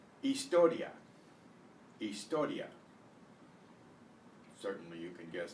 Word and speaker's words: historia: The H in Spanish is always silent except in the combination of CH, where it's pronounced the way we pronounce it. So, I, E, A, O, U, instead of pronouncing the H. It's silent.